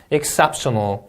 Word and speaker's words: exceptional: 자, R 발음 유의하셔야겠죠? R로 시작한 단어는 혀가 어디에도 닿으면 안 됩니다. remind, exceptional 이 음절 강세, knowledgeable 이 음절 강세, assistance.